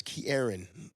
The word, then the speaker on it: Ke'Erron: time yeah I hated my name because people butchered it okay Karen Corona uh kieron like it's Kieran and it's okay but that was the thing